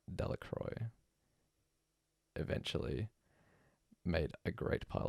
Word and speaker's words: Delacroix: The villagers pronounced this name Delacroix.